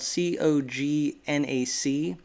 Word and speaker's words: cognac: i think it was the liner he said it's spelled c-o-g-n-a-c and the pronunciation that i looked up according